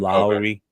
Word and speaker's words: Lowry: If you ask AR Afakasi, he'll say it's just like from Bad Boys, Mike Lowry. That's kind of how you would say his last name, Lowry.